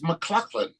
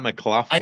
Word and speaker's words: MacLachlan: It's spelled differently. It's McLaughlin. Oh, it's McLachlan. Okay. Yeah, it's not McLaughlin.